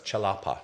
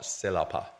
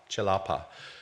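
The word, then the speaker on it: celepa: which um are called chilapa uh it's spelled c e l AA C in Malay is always pronounced as a CH so it's chalapa not salapa chalapa and uh these were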